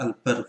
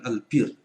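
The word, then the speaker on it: البر: Nah, ini bacanya al-bar bukan al-bir.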